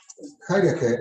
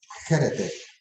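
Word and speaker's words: χαίρετε: Y así se dice todavía en griego, en Grecia hoy, Jairete, aunque la pronunciación moderna de I es E. Entonces, se va a oír en Grecia, Jerete.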